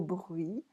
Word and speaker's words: bruit: Alors le roi, that's okay, qui était monté au bruit, se souvint de la prédiction des fées. Here we do not say the T, like as in bruit, we don't say the consonant at the end of a word.